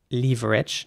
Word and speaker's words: leverage: this is going now in British English it would be pronounced leverage now not everyone says leverage okay in the UK I want to make that perfectly clear some people do indeed say Leverage instead of Leverage that's indeed the American